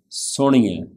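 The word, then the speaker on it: ਸੁਣਿਐ: A quick note about pronunciation of the word Suni-ai. Firstly, there is Anana. A lot of people say Suni-ai, Nanna. They say it with a Nanna, but this is not Nanna, this is Anana. Suni-ai, Ana.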